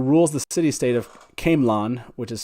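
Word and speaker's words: Caemlyn: queen morgaes who rules the city state of kamlon which is spelled c-a-e-m-l-o-n with her husband king merrick of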